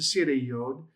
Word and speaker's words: segol yod: the consonant before it, silent yod, that's a segol yod, it's just pronounced as a long e sound.